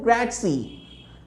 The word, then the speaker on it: grazie: meet you piacety thank you gracie thank you grazie let's pronounce it with me thank you grazie how